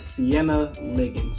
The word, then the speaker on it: Siena Liggins: And I think I pronounced that right. Let me check my sticky note. Yes, Siena Liggins.